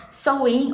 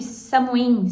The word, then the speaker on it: Samhain: das Bruxas, ou Halloween, que algumas pessoas chamam de Samhain, Samhain, sabe? Samhain. Cada um vai pronunciar de um jeito.